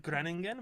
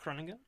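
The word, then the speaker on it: Groningen: So the place I've been to, from if I understand correctly, it's pronounced Krenagan. It's called Granen, but it's pronounced Kronan because that's Dutch.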